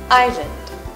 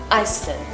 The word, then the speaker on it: island: The s sound in the spell form is ignored when you pronounce it correctly. So you say island instead of Iceland.